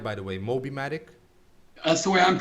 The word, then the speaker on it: Mobimatic: Mobimatic? That's the way I'm pronouncing it, yeah.